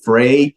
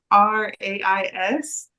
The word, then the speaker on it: Frais: Frey Church. You said it right, Tim. So happy for that. Let's go. So it's FRAIS. Means fresh, and I'm gonna mess it up because our campus pastor is French, right?